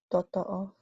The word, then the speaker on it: totoo: totoo. Because we Okay. don't have that, we don't have digraphs, meaning two vowels pronounced as one. No. O. You have to pronounce every vowel.